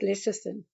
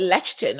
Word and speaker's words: lecithin: I used to call it lectin or something like that. I think. Oh, okay. Yeah, I Okay. mean, Yeah, it's lecithin, yeah.